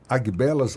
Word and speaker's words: Agbelas: aguelas não B errado não Mas você prefere abelas abelas uhum ah então vai ser abelas a